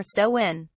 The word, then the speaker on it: Samhain: it clearly related to the celtic festival of Samhain which was originally called salmon pronounced soin or so when the name is derived from old irish and